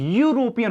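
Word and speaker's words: European: का प्रयोग नहीं होगा क्योंकि उच्चारण देखिए यूरोपियन हो रहा है ना देखिए इसको ऐसे लिखा जाता है यूरोपियन और इसको यूनिट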